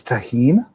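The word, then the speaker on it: Tajín: I feel like that's where is that how you say that as taheen? Yes. Yeah. If there's a J in Spanish it's an H.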